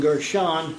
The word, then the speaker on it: Gershon: We're studying Gershon with a nun, or the N sound as opposed to the M sound at the end of the word.